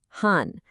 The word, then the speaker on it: 半: Okay, our next super handy shortcut is this character, han, pronounced han.